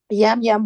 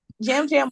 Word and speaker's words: Jam Jam: Sorry, Jam Jam won. Um, I forgot it's like Y, but it's pronounced like J.